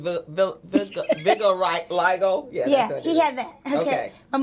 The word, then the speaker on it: vitiligo: How do you pronounce it? Oh, the one with the pronounce it for me. I think it's vitiligo.